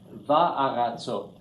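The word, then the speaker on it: וַאֲרָצוֹת: It's going to match the vowel in the chater. So this is va'aratzot. That's 2 ahs in a row.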